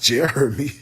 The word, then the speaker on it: Jeromie: to pronounce his name his name is pronounced Jeremy girl what you smoking